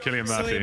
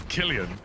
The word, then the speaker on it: Cillian: Cillian Murphy, yeah. Did you just say Cillian? Cillian Murphy. It's Killian.